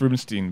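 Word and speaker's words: Rubinstein: I've heard it's Rubenstein, by the way, despite the fact that it's E-I-N, and my German teacher said that should be I, not E, but whatever, man. So it's Rubenstein?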